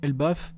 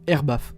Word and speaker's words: Elbaf: spéculations sur un possible arc elbeuf ou air bag comme vous voulez pour la prononciation mais pour moi c'est elbeuf dans cette vidéo on